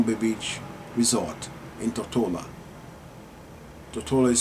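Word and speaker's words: Tortola: Toa is spelled T O R T O L A.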